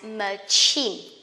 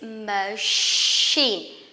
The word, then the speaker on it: machine: A lot of people will pronounce it as machine. This is machine, sheen, just like shoe or shirt, okay?